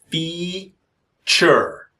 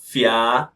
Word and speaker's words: feature: And the pronunciation is feature. I know you can see the letter A, but it's not fia, but feature. Feature creep.